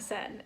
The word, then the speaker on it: Seine: And we had yesterday walking along the Seine River having this beautiful moment.